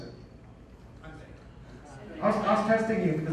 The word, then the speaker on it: Hyundai: How do you pronounce it? Hyundai.